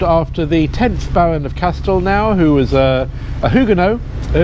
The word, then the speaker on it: Castelnau: we're on Castle now it's an interesting name Castle now or Castle now no one's really quite sure how to pronounce it well I know how to pronounce it because it comes from oxitan um oh and uh